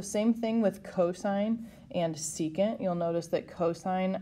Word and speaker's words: secant: This is pronounced secant.